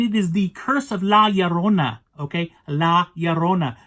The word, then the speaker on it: La Llorona: came out, The Curse of La Llorona. It's La Llorona. It just drives me nuts. I mean, yeah. I understand it's a different language and stuff like that, but man, come on, you gotta say it right.